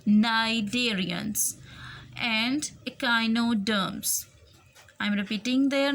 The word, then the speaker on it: cnidarians: इसको सनीडेरियंस नहीं पढ़ना, इसमें सी साइलेंट है. This word will be pronounce as नाइडेरियंस and echinoderms. I'm repeating their names: arthropods, worms, mollusks, sponges, cnidarians and echinoderms.